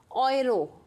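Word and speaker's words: Euro: तो you know everyone currency of Austria यूरो, तो यूरो को क्या पढ़ते हैं हम, ऑयरो। कुछ लोग यूरो भी बोलते हैं बट राइट प्रोनाउंसिएशन क्या होगा, ऑयरो।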